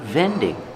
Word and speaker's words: vending: Remember the V sound. Make vibration with your teeth. VV. The position is straight. Relaxed. Vending.